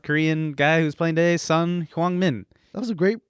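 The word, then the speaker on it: Son Heung-min: The South Korean guy who's playing today, Sun Hwang-min. That was a great pronunciation.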